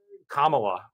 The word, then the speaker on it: Kamala: right now um look Kamala which is how I understand her name is pronounced um lost the last